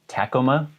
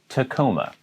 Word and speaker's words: Tacoma: would really mispronounce but i've actually heard some people say tacoma it is tacoma a city in washington